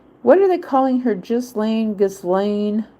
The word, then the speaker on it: Ghislaine: They said Donald Trump was supposed to be giving Ghislaine, what are they calling her? Ghislaine. They're pronouncing her name a little bit differently to give her more of a less harsh name. Ghislaine.